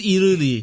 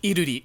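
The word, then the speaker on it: 이루리: So nominated we have Aesoo, Lim Kim, Lula, who her name is pronounced completely different in Korean. Yeah, and I don't remember it. It's like Liluli or something like that. It's Iruli. Yeah. Iruri.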